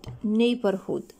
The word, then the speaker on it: neighborhood: Neighborhood. أوكي، the G and H are silent letters.